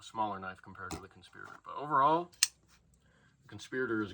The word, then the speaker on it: Conspirator: where they introduce this the guy calls it the conspirator it's conspirator it's spelled conspirator look up how to